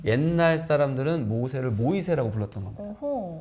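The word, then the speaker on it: Moïse: 옛날 사람들은 모세를 모이세라고 불렀던 겁니다. 어허. 예. 그리고 또 유럽에서는 프랑스는 또 모이즈라고 발음하기도 해요.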